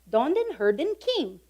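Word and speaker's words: Dodenherdenking: This is how they say it. Donden Herden King.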